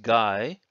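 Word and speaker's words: 外: also means outside sometimes this character is pronounced guy and that's where we get the word gaijin or foreigner somebody from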